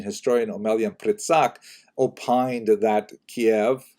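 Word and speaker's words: Kyiv: omelian pritzk opined that kiev cave as it's pronounced today in the ukrainian pronunciation cave was actually founded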